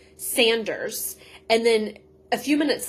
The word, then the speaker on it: Sanders: Sanders Saunders and I guess this is probably one of the last times we hear Saunders because it is Sanders for the remaining remainder of the series.